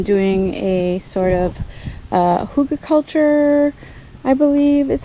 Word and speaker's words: Hugelkultur: doing is I'm doing a sort of uh Huga culture I believe is how you pronounce it hu Huga culture um type setup